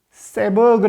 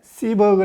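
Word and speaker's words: Seberg: 미국의 뛰어남 배우 친 흔히 3 버그 라고도 하는데 씹어 그 라고 발음하는 게 맞는 뜻 합니다 요즘 흑인들의 인권 문제로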